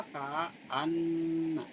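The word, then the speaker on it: كأنّ: Ka'anna ya. Asalnya ka'anna. Yang fakilahnya apa? Ka'anna. Di syiddah ya.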